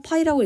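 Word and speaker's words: π: 파이는 이렇게 유자로 쓰고 파이라고 읽습니다. 삼을 의미하고요.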